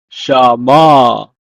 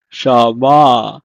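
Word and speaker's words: שמע: at the bottom is hear or listen in Hebrew is pronounced as Shama Shama so if we combine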